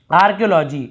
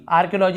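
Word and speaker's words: archaeology: आप देख रहे हैं, यहाँ पे हम यहाँ पे एच का उच्चारण नहीं कर रहे हैं। इन सब वर्ड में आप देखेंगे यहाँ पे जैसे आर्कियोलॉजी, आर्कियोलॉजी है ना पुरातत्व, आर्कियोलॉजी ऐसे बोलते हैं।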